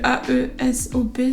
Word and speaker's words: Aesop: Ensuite, côté pro, on voit une petite crème pour les mains Aesop, ça se prononce Aesop la marque. Comme il y a le A-E-S-O-P, souvent ça peut porter à confusion, du coup ça se dit Aesop.